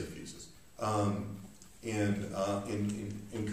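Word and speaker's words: physis: nature it's fixed it's fusus sounds pronounced it's terribly terrible affectation I see people go FES and just I just want to start so I say fuses um and uh in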